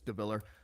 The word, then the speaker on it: DeVillaer: DeVallaer, which is spelled DeVillaer. Just make the A silent. It's DeVallaer.